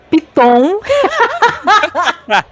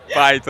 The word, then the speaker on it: Python: Eh, vixe, e agora que eu não sei pronunciar, gente. Vou falar aqui do meu jeito. Vocês não me cancelem, hein? Piton. Python.